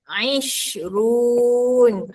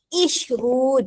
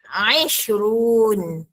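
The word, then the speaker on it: عشرون: Isrun bukannya isrun salah ya. Dia bunyi a isrun 20.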